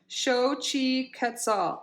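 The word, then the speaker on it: Xochiquetzal: again and this is she her name is pronounced shochi quetzal shocked show Chi quetzal okay she's an Aztec goddess of fertility and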